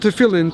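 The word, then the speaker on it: tefillin: should be reminded between your eyes in English it's spelled in Hebrew it's spel it's called tein t e f i l l i n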